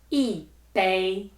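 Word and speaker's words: 一杯: E bei E bei E ping E ping E wan E wan E guan E guan Let's check out the answers.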